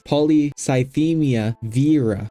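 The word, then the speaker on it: polycythemia vera: you have that because it's not pronounced Vera it's not ol Vera okay it's poly cymia Vera but besides the vocab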